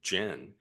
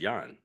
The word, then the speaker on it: Yan: The actual Cantonese pronunciation of our family name is Yan.